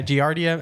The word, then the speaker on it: Giardia: Yeah, Giardia.